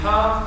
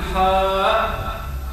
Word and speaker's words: حا: مثلا الحاء تتركب من حا ثم الف هنا لا نقول حاء لا ننطق الهمزه الاخير بالنسبه الحروف المتركبه من